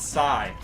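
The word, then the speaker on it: psi: a Greek symbol it stands for the word Sai in Greek that's how you pronounce it Sai so Sai key I learned that in biology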